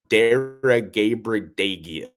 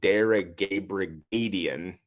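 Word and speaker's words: Daragabrigadien: And here we have Garo Daragabradagian. Garo Daragabradian. There you go. I said it right the second time, not the first one.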